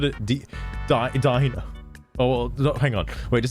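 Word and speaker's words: Deino: Dino.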